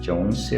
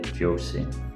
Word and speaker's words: Josie: I think I mispronounced Josie that entire video. I said Jonesy or something, but it's actually Josie.